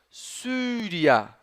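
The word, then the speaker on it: Syria: do latim Olha só vou pronunciar essa palavra aqui ó suria sria que é o nome de um país nome de uma região sria viram só muito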